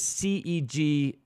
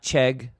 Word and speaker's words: CEG: Just for clarity, uh the school is CEG Dealer School, not CHEG Dealer School, and my name is not spelled with a K.